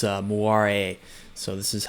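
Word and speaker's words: moiré: pronounce it differently but according to wikipedia it's moira a so this is how it's pronounced in french so hopefully that's right but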